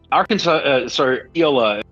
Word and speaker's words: Iola: Iola, that is how you pronounce it, is home to a company called Big River Steel, and that's a good old-fashioned steel factory.